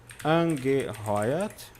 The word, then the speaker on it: angeheuert: Exclusivamente e angeheuert, contratado.